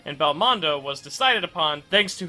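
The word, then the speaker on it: ベルモンド: which in the original Japanese is written and pronounced Belmondo, and is a direct reference to the French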